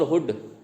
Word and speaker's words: hood: जैसे मूड और हुड, अब देखने में तो सेम लग रहे हैं मूड और हुड, स्पेलिंग दोनों की एक MOOD HOOD, लेकिन फ़र्क है ना, मूड में बड़ा U है और हुड में छोटा U है, तो ये मैच कम हो रही है। मूव और डव, ये तो मूव है, स्पेलिंग वही है MOVE और DOVE है, लेकिन उच्चारण इनका अलग है।